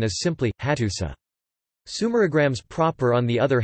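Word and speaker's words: Hattusa: The uru is a determiner marking the name of a city, and the pronunciation is simply, hatusa.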